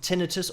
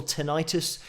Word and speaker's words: tinnitus: a little bit of tinnitus or tinnitus, depending on how you pronounce it.